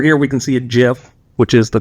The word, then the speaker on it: GIF: So over here we can see a GIF which is the correct way to pronounce it in case uh you are unaware but we see a GIF of uh welding process.